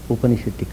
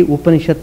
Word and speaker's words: Upanishad: Actually, Upanishad means it is combined with 3 syllables. Upa plus ni plus sad.